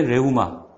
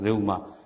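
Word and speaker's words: ῥεῦμα: 그 다음에 레우마. 역시 이제 로가 맨 앞에 나왔죠. 그래서 강하게 숨을 내쉬는 발음의 레와 뭐 해 중간. 그래서 불어 비슷한 그 발음 나올 겁니다. 레우마.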